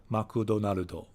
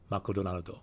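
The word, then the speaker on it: マクドナルド: It's double the syllables because McDonald's, 3 syllables, but in Japanese, McDonald's, it's 6 syllables. So you'll notice in Japanese, you always have consonant, vowel, consonant, vowel, consonant, vowel. So a word like McDonald's that has a bunch of consonants grouped together, you get this doubling of syllables.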